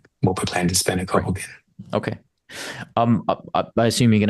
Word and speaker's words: Copalquin: Think about it as a K, Copalquin. Copalquin, just like that.